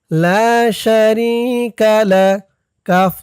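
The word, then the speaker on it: لا شريك لك: জবর কা লাশারি লা শারিকা লাম জবর লা লা শারিকালা কাফ জবর কা লা শারিকালাক লা শারিকালাক ওয়াল মুলকা লা শারিকালাক ইন্নাল হামদা ওনিমাতালাকা ওয়াল মুলকালা শারিকালাক এই পর্যন্তই হচ্ছে হজের তালবিয়া।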